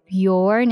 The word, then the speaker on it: Bjorn: a troll here captain Bjorn the brave yourn is how you pronounce that I've always I will